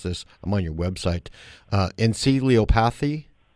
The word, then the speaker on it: encephalopathy: You evaluate other, like traumatic brain injury, chronic and traumatic, and I can't pronounce this. I'm on your website. Encephalopathy? Encephalopathy.